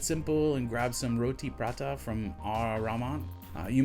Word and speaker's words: prata: when I was pronouncing prata and that's because an old colleague used to make fun of me as I it's not Prada like the handbag it's not a designer it's food bro so maybe that colleague